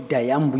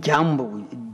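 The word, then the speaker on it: Dyambu: When you refer to Dayambu, you mean Jambu, D-Y-A-M-B-U. Yes, your pronunciation is more. We called it Dayambu, but I suppose the African word would be Jambu.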